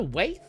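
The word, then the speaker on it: Waithe: gonna be produced by is it lena weith or is it wife i never understood how i pronounced her name anyway it's it's way it's way okay i had to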